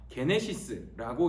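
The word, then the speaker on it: γένεσις: 그리고 마태복음 1장 1절에서 사용된 이 계보라는 단어, 이 계보라는 단어가 게네시스라고 읽는 말인데요.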